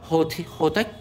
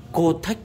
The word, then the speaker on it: Hotech: Đấy thì hôm nay em mới khai thác được những cái dây quang này của Hotech. Em đọc là Hotech, Kotech, không phải Kotech.